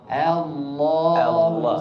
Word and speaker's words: الله: لفظ الجلالة، الهمزة في لفظ الجلالة مرقق. خطأ. فتح الفم، إتمام الحركة في الفتحة. Allah, jangan Allah.